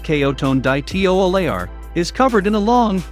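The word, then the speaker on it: Coton de Tuléar: friendly cote and de tullier pronounced kayo tone dai teo aleyar is covered in a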